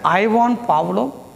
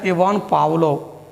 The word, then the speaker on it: Pavlov: I repeat, some pronounce it as Ivan Pavlov, some pronounce as Ivan Pavlov. Both are accepted, both are correct.